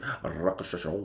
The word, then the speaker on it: Rakshasa: Okay, so I'm going to do a quick video just summarizing my experiences, my recent experience with RAKSHASA. That's an official pronunciation, but also known as R1.